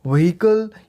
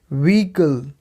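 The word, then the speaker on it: vehicle: अगर आप लोग इसको व्हीकल या फिर कुछ और बोल रहे थे तो वो इनकरेक्ट था। इसकी सही प्रोनाउंसिएशन होगी व्हीकल।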